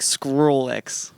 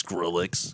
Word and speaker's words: Skrillex: You would like you'd say it like Squirrel X. Like I couldn't squirrel, say it. Like, yeah. Pick a name that Speech exists. impediment shit. Pick a name that exists. Skrillex.